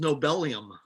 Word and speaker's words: nobelium: It's just nobelium. Okay, so it's nobelium because nobelium has Z equal to 102, and the configuration has 102 electrons, right?